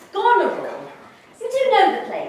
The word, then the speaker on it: Goneril: The point is that Mary's character is pronounced Goneril.